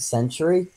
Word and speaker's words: Sentry: came with us a century the um robot guy he is awesome oh you said it right oh yeah I keep saying like Cemetery I'm from I don't